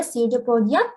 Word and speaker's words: pseudopodia: So here pseudopodia, P is silent.